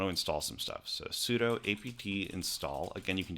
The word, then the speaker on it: sudo: it should be pronounced sudo as it stands for super user do s you do but i pronounce it sudo incorrectly so there we